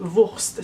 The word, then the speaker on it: WVRST: Donc, si vous visitez Toronto, vous devez absolument aller chez Wurst. Ça s'écrit W-V-R-S-T.